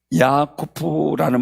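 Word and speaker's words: יעקב: 그가 이르되 내 이름을 다시는 야곱이라 부를 것이 아니요 이스라엘이라 부를 것이니이는 내가 하나님과 사람들로 익었음이라 아멘 자 야곱은요 야쿠프라는 말이에 야쿠프라는 야곱의 발음이 그래 히브리어로 그런데 발꿈치를 잡는 자 속이는 자 뭐 이런 뜻이고요.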